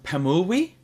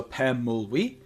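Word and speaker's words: Pemulwuy: Uh next in English, it's Pemuli. Um and also in the uh native indigenous uh Australian language is also Pemuli.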